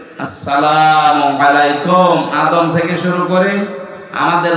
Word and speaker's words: আসসালামু আলাইকুম: সহ বিশ্বের বহু দেশে এই সালাম শব্দটা এখনো শুদ্ধ উচ্চারণে হয়নি শিক্ষিত মানুষ আমরা দেখি এরা সালাম দেয় আসালামু আলাইকুম যারা জবাব দেওয়ালাইকুম এটা কি মারা জিনিস নাকি জান্নাতের ভেতরে প্রবেশ করার সময় এই শব্দ দিয়ে আপনাকে সম্ভাষণ জানাবে ফেরেশতারা সালাম আলাইকুম শান্তির সাথে প্রবেশ করেন এ শব্দটাকে যারা এখনো পর্যন্ত উচ্চারণ শেখেননি তাদের কপাল নষ্ট হওয়া আজকে থেকে ঠিক করে নেবে আসসালামু আলাইকুম আদম থেকে শুরু করে